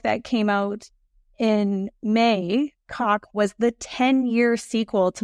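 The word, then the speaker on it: Coq: And folks, that's spelled C-O-Q, by the way, just so you know that. Cock is spelled C-O-Q. French for rooster, and the first book was Roost.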